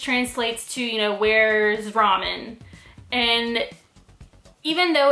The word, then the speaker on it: ramen: you should be saying ramen do you understand the difference between ramen and ramen the extended a is the correct way to pronounce ramen this is the Japanese